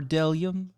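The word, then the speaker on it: bdellium: a is for isle b is for dellium what yeah for delia yeah yeah because it has a silent b at the front c is for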